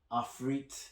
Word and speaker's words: Ifrit: of the Phoenix versus Ifrit, or Afrit, however you want to pronounce it. Choice is yours guys, but I prefer Ifrit.